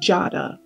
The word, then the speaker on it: Jada: It is masculine, and it is pronounced Jada.